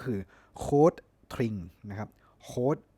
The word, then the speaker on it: Rotring: dchl หรือ ภาษา เยอรมัน จริง ๆ ก็ คือ cde tring นะ ครับ coe ก็ คือ rot R เนี่ย